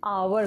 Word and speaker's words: hour: मैंने बताया था कि HOUR जब होगा तो आपको H साइलेंट कर देना है, आपको सिर्फ आवर का प्रोनंसिएशन लेना है, ठीक है।